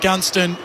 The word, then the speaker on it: Gunston: bit of momentum jack gunston 30 out directly in front put an emphasis on the first three letters in his name he is a gun jack gunston 13 482